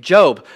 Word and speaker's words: Job: reading the book and it says J-O-B, last time I checked, that's Job. And so I'm going to read the book of Job. But this man, Job, is how you pronounce it.